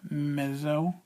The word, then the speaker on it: mezzo: for middle or medium and it's spelled m-e-z-z-o mezzo that is pronounced mezzo and the next Dynamic marking we